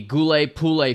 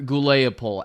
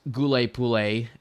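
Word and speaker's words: Huliaipole: First of all, we are going to talk about a rapidly developing situation and that is of course the Goule Pulle front or Gouleopole as I incorrectly pronounced in many videos I made in the past.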